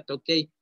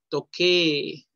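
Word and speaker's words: 時計: Se escribe tokei, pero no se pronuncia tokei. Toque. Con doble E.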